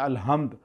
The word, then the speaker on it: الحمد: حمد اللہ کے لیے۔ آپ کہتے ہیں الحمد، اکثر لوگ تلفظ ادا نہیں کرتے، ہا نہیں کہتے، ہے کہہ دیتے ہیں الحمدللہ، اس کا معنی چینج ہو گیا، کفر آ گیا، نماز